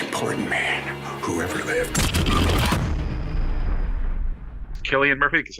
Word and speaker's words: Cillian Murphy: Cillian Murphy, because I believe it is pronounced Killian Murphy.